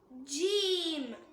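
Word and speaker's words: جيم: Next letter ஜீம். ஜீம் ஜீம். இத நாக்கோட நடுப்பகுதி மேல் முரசை டச் பண்ணும்போது சொல்லக்கூடியது.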